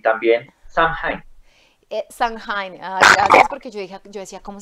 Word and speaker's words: Samhain: Samhain, gracias, porque yo decía, ¿cómo se pronuncia eso?